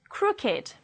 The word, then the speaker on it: crooked: If they are adjectives, they do not follow the rule and they will be pronounced with id, it. Let's read it as adjectives. Aged, blessed, crooked, dogged, learned, naked, ragged, wicked, and wretched.